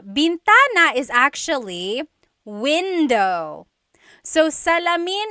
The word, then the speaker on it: bintana: Uh driving driving said bentana. Bintana is actually window. So salamin is the mirror. Bintana is the window.